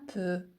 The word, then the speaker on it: peu: Je me détends un peu. Les lettres des Sans muette. Je me détends. Je me détends un peu. Un peu. Les lettres E U se prononcent E. Peu un peu.